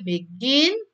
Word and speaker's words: begin: B itu lebih rendah, gin itu lebih tinggi. Jadi rendah dulu baru tinggi ya. Karena yang ditekankan adalah yang second syllable.